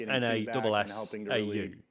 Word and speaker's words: Nassau: Most was called Nassau, just having a partnership but spelled N-A-S-S-A-U. And I knew it's pronounced Nassau because that's how they pronounce it in Assassin's Creed Black Flag.